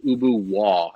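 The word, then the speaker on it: Ubu Roi: french satire from i think the mid-1800s called ubu wall it's it's spelled like ubu roy and it was this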